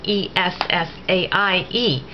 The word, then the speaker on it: essaie: In that same verb, essayer, to try, it begins with j'essaie, and that's spelled E-S-S-A-I-E. And notice how clean that sound is. Essaie, that's an I.